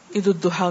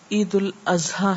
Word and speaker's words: عید الاضحیٰ: جی ہاں، بعض لوگ عید الاضحیٰ کو عید الضحیٰ کہتے ہیں، جبکہ یہ عید الاضحیٰ ہے.